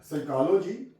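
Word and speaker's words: psychology: पी के बाद एस आ जाए तो प साइलेंट हो जाती है फर एपल साइकोलॉजी प एसवाई सी ए ओ एल ओ जी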